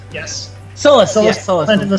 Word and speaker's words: Sullust: Sullust, yes. Sullust, yes, Sullust.